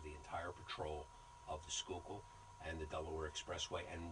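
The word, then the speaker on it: Schuylkill: we had 75 police officers are patrolling the skookul right I say it right yes SK skookul yes yes you must be from Philadelphia right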